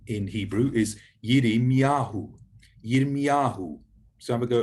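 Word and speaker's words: ירמיהו: Then the word for Jeremiah, Jeremiah's name in Hebrew is Yirmiyahu, Yirmiyahu. So have a go at pronouncing that, Yirmiyahu.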